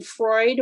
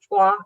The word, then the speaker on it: Froid: So part of your story happens in Freud, which I would pronounce Froid, Montana.